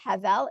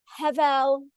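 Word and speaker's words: הבל: When we say the word in singular and it's not at the end of a sentence, we say havel. It's sort of very hard. It's hard for me to always remember how to say it correctly, but hevel, I'll translate in a moment, or havel, havalim is a refrain repeated throughout.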